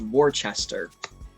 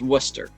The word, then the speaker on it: Worcester: have to let you that town isn't pronounced warchester worcester that's that worcestershire it's it's it's pronounced worcester steve's right come on